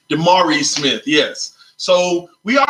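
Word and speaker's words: DeMaurice: Smith always misses um the pronunciation of his name of let me make sure I get it correct d'marie Smith yes so we are already the last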